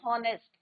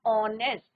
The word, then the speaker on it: honest: कई बार देखा है कि बच्चे क्या बोलते हैं? हॉनेस्ट, बट इट्स नॉट हॉनेस्ट। एच is your silent pronunciation, sound किसका आएगा? ऑनेस्ट, वोबल साउंड आएगा।